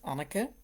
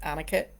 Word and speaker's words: Anneke: Um, as you've gathered, my name is Anneke. That's how it's pronounced in Dutch. I'm quite used to people calling me Anneke in English. It's a slightly different sound.